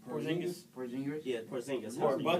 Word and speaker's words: Porzingis: The Knicks are thinking about trading him and building their team around Christus. Porzingis. Yeah, Porzingis. Or How do you pronounce Buckets.